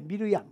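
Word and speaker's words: מִרְיָם: 그런데 마리아라고 하는 얘기는 무슨 얘기냐? 요거는 미르암이에요. 미르암. 원 발음은 미르암입니다.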